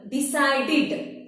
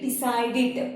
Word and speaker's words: decided: Decided. Id. Id. Decided.